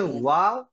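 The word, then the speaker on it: واو: তাহলে ওয়াও আমরা যেখানেই পাবো, যে কোনো চিহ্ন থাক ওয়াও এর মধ্যে, উচ্চারণ করতে অবশ্যই ঠোঁট গোল করতে হবে।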